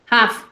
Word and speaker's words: have: Ahora, un tip que les doy es que toda palabra que tú ves con H, sí, con H, para nosotros la H es muda, no, no, no tiene sonido, pero en el inglés sí. La H suena como J. Es por eso que yo digo hat con J. Hat, have, ¿no?